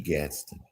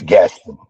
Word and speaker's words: Gaston: Gadsden. Check him out. Yes, sir. You know, we call Yes, sir. guys like that visionaries. Yes, sir. Yeah. And remember, Gaston is spelled Gaston. Yes. It's Gaston.